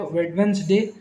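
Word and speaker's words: Wednesday: वेडनेसडे, वेडनेसडे महीना दिन, दिन का नाम होता है, इसमें डी साइलेंट होता है।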